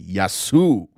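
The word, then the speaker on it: Γεια σου: stories to cover yasu excuse me yasu that's how you pronounce it and linda t thank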